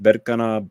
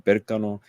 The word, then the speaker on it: Berkana: It's pronounced Berkana, Berkano, and this is about fertility, about growth, and it's very similar to the Empress, right?